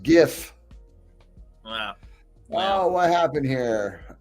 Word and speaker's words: GIF: WIF, you mean JIF. There we go. Third Patriot. Love it. No, it's pronounced GIF.